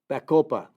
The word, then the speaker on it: Bacopa: effects on memory using Greek mountain tea with Bacopa. Bacopa is spelled B like in boy. A-C-O-P-A. Bacopa.